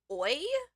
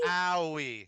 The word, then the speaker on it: Aoi: I mean, I'm definitely giving it a little more of an American pronunciation. I'm saying like owie, but it's close. Owie.